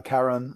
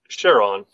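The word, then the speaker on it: Charon: given to uh uh Karen the the oarsman who takes you across the river sticks now I've heard it pronounced Sharon I've heard it both ways as well I like the hard C I like Carolyn as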